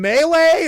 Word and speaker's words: melee: Do you mean melee or do you mean Malle?" But you And that's what you can definitely spot an idiot if they say Malle.